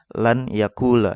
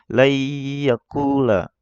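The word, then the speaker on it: لَنْ يَقُولَ: Ya, ini kita ya, kalau kita nggak belajar ilmu tajwid bacanya lan yakula ya. Ini salah ya. Yang benar adalah layyakula ya, agak didengungkan lah, agak ditekan pas di tasdid ya-nya ini.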